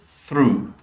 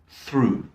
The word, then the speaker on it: through: use it um and the ought here is pronounced ooh so through through there aren't any other